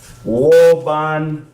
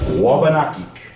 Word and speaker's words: Wabanakik: Let me write the way the word phonetically was closest to its original pronunciation. Wabanakik. Wabanakik.